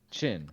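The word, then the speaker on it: Qin: But it was uh before the the Quinn Dynasty, which I'm not pronouncing these with a Chinese uh dialect, and I apologize. I just Chin. Thank you.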